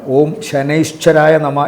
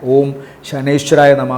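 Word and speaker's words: ഓം ശനേശ്വരായ നമഃ: ശനേശ്വരായ നമ എന്ന് ജപിക്കുക ഓം ശനേശ്വരായ നമ എന്നാണ് ശരിയായ ഉച്ചാരണം മന്ത്രത്തിന്റെ ഉച്ചാരണങ്ങൾ തെറ്റാൻ പാടില്ല ഓം ശനേശ്വരായ നമ എന്ന് ജപിക്കുക ശനിദോഷ പരിഹാരത്തിന്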